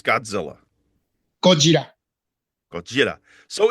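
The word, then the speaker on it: ゴジラ: They're like, it's not Godzilla, it's Gojira. And maybe that's the original way, but do you guys in Japan, what do you say? What's the way that you pronounce Godzilla? Gojira.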